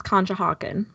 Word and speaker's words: Conshohocken: It's Pennsylvania and it's Conshohocken.